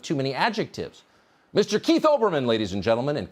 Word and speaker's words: Olbermann: many adjectives mr keith olbermann ladies and gentlemen and keep in mind the l is silent but it was too